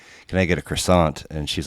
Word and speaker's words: croissant: can i get a croissant and she's like it's pronounced quasal and then like she